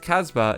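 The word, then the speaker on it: kasbah: arena in ancient caritage me neither a casbah pronounced casbah is a wild medieval city found in north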